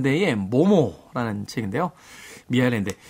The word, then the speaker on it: 미하엘 엔데: 데에 모모 라는 책인데요 미하엘 엔데 당시의 이제 미카엘 엔데 라고 작가 이름을 발음 하기도 했었고 모모의 대해서 또 근데